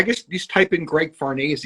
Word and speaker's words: Farnese: It's Italian, so it sort of rhymes with Scorsese. I always say, just think of Scorsese. It's Farnese.